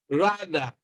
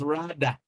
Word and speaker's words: rather: language speakers of english they pronounce this as rada rather rather you know they mispronounce it they use d to pronounce this but it is not d only is a bit closer to d so it is rather